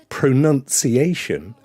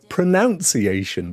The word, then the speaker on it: pronunciation: Pronunciation is very often said as pronunciation, but there ain't no O in it.